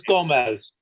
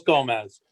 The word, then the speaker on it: Gomes: How do we pronounce it, Charles? Bob, it's Gomez, Charles Gomez.